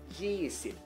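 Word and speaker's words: ยี่สิบ: Kalau di Thailand itu 2-nya dia punya panggilan khusus, yaitu yisip.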